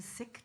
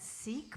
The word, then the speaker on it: Sikh: the service today with a chant from the Sikh tradition and some people pronounce that Sikh but I've learned that it's actually pronounced Sikh